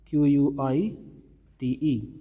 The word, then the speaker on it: quite: pronounce quiet q-u-i-e-t and q-u-i-t-e so how do you pronounce q-u-i-t it is quite and uh q-u-i-e-t it is quiet and you know the